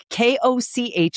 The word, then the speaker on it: Koch: Koch, k o c h is pronounced Koch.